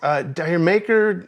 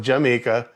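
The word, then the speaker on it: D'yer Mak'er: Dire Maker, it's actually pronounced Jamaica.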